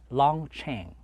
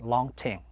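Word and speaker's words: Long Tieng: ng t ie ng was pronounced it correctly pronounced long chain but the way how was pronounced bill at that time was pronounced long team so that's how the secret war was fought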